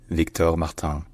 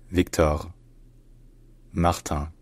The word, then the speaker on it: Victor Martins: in various racing categories in French his name is pronounced Victor Maron Victor Marton Victor Martin Victor marttin all right